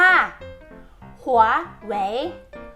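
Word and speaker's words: 华为: คือ Huawei ค่ะ เออ คน ไทย เรียก กัน นะ คะ ว่า Huawei Huawei แต่ จริง ๆ แล้ว นะ คะ ใน ภาษา จีน นะ คะ เรา จะ ออก เสียง แบรนด์ นี้ นะ คะ ว่า หัว แหวน หัว แหวน ค่ะ และ อีก แบรนด์ นึง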